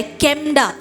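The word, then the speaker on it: חמדה: प्रिय कहा गया है, उस शब्द को कहा जाता है केमडा। क्या कहता है? केमडा। क्या कहता है? केमडा हम कहते हैं। स्पेलिंग है CHEMDAH।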